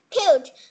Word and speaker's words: cute: Sometimes cute, but we write letter E, but we don't spell it.